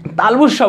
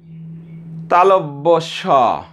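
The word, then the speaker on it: তালব্য শ: ছটাকে কী বলে থাকি, তালবুসা বলে থাকি, এটা একটু ভুল। আর এরপর থেকে আর ভুল হবে না, আমরা আর ভুল করব না, আমরা সঠিক পথে যাবো এবং সঠিকটা শিখবো। তাহলে এর উচ্চারণটা কী হবে, তালু থেকে তো অবশ্যই উচ্চারণ হবে, তাহলে কী হবে, তালব্যস তালব্যস তালব্যস, অর্থাৎ তালু থেকে যে স উচ্চারণ হয়েছে উচ্চারণ হয়েছে সেটা হলো তালব্যস।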